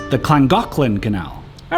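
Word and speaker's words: Llangollen: so this is The langin Canal at least that's how I read it but I learned the Welsh pronounced the double L's as CLA so it's actually pronounced the clangin canal all right this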